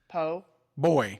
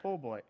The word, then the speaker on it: po' boy: Say po, Po boy. boy, Now put them together. pole boy.